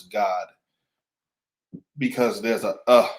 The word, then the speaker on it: Gad: o d right so you pronounce Gad the same way as you pronounce God because there's a uh